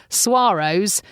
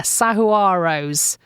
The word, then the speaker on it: saguaro: time and even now I get told off by locals for calling them suaros and apparently I'm not putting enough syllables in there sahuaros Saro Soros I've heard